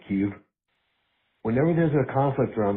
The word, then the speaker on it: Kyiv: Hey, remember when Russia went into Ukraine and we all learned that Kiev was really pronounced Kyiv?